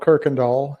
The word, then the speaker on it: Kuykendahl: local you pronounce a Kirkendall there's no r in it but uh just pretend there is and you'll sound like a local so it's called Kirkendall that's the name of